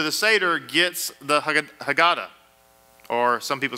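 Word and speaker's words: Haggadah: show up to the Seder gets the hag hagata or some people say hagada hag hagada is how it's us usually pronounced this hagata is the traditional book that's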